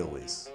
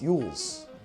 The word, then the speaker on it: Cary Elwes: who's playing the mayor Carrie Louise Louise how do you say he's that name he's not how do you say his mom lways Cary Elwes that sounds like a football player right now it's eul's Carrie eul's of the Princess Bride and